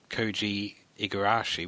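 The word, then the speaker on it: Koji Igarashi: of Castlevania 3 quite a bit the Creator koi igarashi which I probably just mispronounced no you got it he he is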